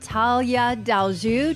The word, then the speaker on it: Tallia Deljou: Hey, so we are here with Talia Delju Delju. Did I pronounce that right?